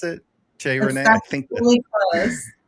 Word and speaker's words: Cherene: Is that how you pronounce it? Cherene? I think really close. Cherene.